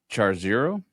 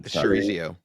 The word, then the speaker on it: chorizo: Manchego, firm, buttery, excellent with charzero. Charzero, I'm probably blowing that. Chorizo.